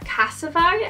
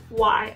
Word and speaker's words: Casetify: copper background, and I got my case at Casify. I think that's what you call it. I don't even know how to pronounce it.